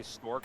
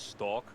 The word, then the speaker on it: Stork: names with them, and they actually made me say Stork over the wrong way. They were like, you can do it, but you're saying his name wrong. It's Stalk.